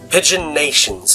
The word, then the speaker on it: Pigeonation: come to saint-pigeon nations pigeon nations is how it's supposed to be pronounced the teaching staff at